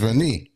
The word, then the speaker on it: Rennie: You said it's Rennie. Lots of people say Renee all the time, but I get called Renee all the time because that's it's kind of the much more known pronunciation. Mhm. Especially in Canada, it's like a known French name.